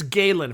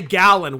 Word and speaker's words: Galen: Yeah, And Eddie, it's Galen for future reference. dude, I've been saying his name wrong for like 2 years. But like you said, that's a common way to pronounce it. So like, how are we supposed to know? Right. We say Gallon way more than Galen, so Yeah, you well, know it's what?